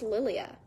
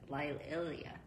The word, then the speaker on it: Lilia: It's pronounced Lilia. Oh, guess what? What? It's not. Wouldn't it be funny if you're like, it's actually? Actually, it's Lilia.